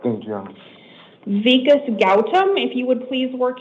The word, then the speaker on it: Gautam: So it's pronounced Gautam.